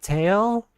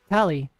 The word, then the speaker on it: Tali: Tali tally. Like tally. Use that to correct them. Tali Tali. Tally. Just give them the pronunciation. Yeah, I usually I usually just say, "Oh, it's it's actually tally." And I'll spell spell it like how you spell Tally. Like T A L L Y.